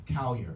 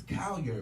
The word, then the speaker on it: Colyar: I'm like, it's Colyar. He's like, okay. And then he kept saying it wrong, and then I'm like, no, it's Colyar.